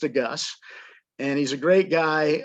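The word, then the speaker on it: de Geus: the last name is spelled d-e-capital s it's pronounced a gus and he's a great guy um uh it's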